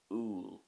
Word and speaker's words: úll: And the Irish word for apple is úil.